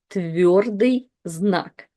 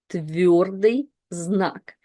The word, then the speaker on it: твердый знак: It's твердый знак. Твердый знак, which literally means hard sign in Russian.